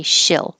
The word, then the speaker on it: she'll: seven eight and nine you can be more lazy instead of she'll she'll be here you can say shill she'll be here she'll